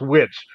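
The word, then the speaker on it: Witich: there that it is somebody named witch but it's spelled w-i-t-i-c-h but it was pronounced witch it was not a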